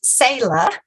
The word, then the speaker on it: Sala: It's pronounced Sala, like c'est la vie.